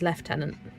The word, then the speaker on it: lieutenant: Where do you get the f? Um I think that is French as well left tenant.